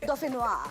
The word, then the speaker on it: dauphinois: Yes, you can't just pronounce it any other. It has to be dauphinois.